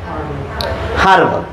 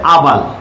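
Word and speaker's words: herbal: হারবাল। তো হারবাল উচ্চারণ করলে এখানে এন কেমনে আসবে? আমাদের হা এখানে আছে, দেখো তো আছে কিনা, 5টার মধ্যে নাই। তাহলে বোঝা যাচ্ছে এটার উচ্চারণ হচ্ছে আবাল।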